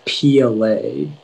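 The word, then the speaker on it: piolet: the information yeah so the only pronunciation is pla it's a noun and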